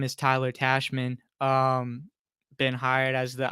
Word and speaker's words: Tachman: me my friend is like the New York Yankees president or whatever Brian Cashman that rhymes with that so Tyler tashman welcome uh you to